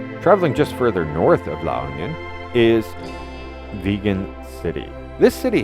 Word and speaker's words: La Union: Now just west of Baguio, if you go down the mountain, is La Union, or La Union as they pronounce it, a beautiful beach destination where surfers and retirees enjoy this place equally.